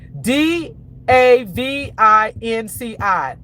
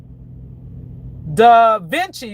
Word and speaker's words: Da Vinci: Okay, you guys make sure I'm pronouncing this right. D A V I N C I. D Vinci.